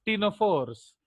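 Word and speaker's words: Ctenophora: नाउ कॉटेनोफोरा मैंने क्यों बोला, ताकि आप जाने कि सी साइलेंट है। Actually it is pronounced as टीनोफोर्स, तो उसमें सी सुनाई नहीं देता है, इसलिए हम उसको कॉटेनोफोरा बोलते हैं।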